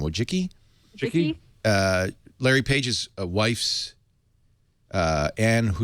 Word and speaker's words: Wojcicki: How do you pronounce her last name? Wojcicki.